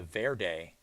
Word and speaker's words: Verde: confirming that the that i was wrong it is the verde valley just like uh you would say it as color green so i've been saying